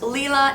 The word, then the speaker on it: Lila: that means night tasneem can also be pronounced Leela and is actually the word for purple in German I really love that I have known a few little Lila's it is rising in